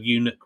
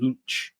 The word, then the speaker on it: eunuch: in advance at least find out how to say the word eunuch rather than saying luch what was it it